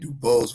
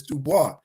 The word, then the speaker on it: Dubois: uh uh Dane and Dubose versus Dubois that's that's French yeah which dude that's okay you don't pronounce it dubo it's Dubois it's like a bear yeah how you not